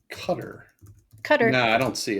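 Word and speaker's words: Qatar: Can we all just Can I Can I Can we just talk about how that that country is pronounced? I think it's so funny. I don't think it's fair. Cutter. Cutter. Yeah, it's cutter.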